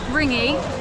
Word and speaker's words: ringgit: It cost us 10 ringgit. I stopped. I forgot. Ring it with the G.